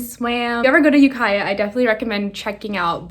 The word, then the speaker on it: Ukiah: um by the way it's pronounced ukaya not yukiya i think but um yeah we